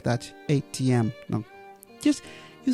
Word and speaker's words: ATM: machine is called the atm machine atm machine and let's stress the last letter because when we have abbreviations the rule is we stress the last letter the most for example mba great yes